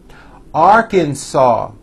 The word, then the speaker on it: Arkansas: Alabama Alaska Ariz Iona Arkansas the final s is silent California Colorado Connecticut Delaware